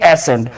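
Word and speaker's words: ascent: د ایسنټ په کلمه کې د سی نه وروسته ای راغلی او اس هم راغلی، د دې وجه نه یو به تلفظ کیږي ایسنټ.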